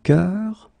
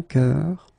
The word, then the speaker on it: cœur: is un bœuf, un cœur. It's actually quite interesting, because even if you write them differently, you pronounce them the same way. Un œil, un œuf, une sœur. Okay, so un bœuf, un cœur, un œil, un œuf, une sœur.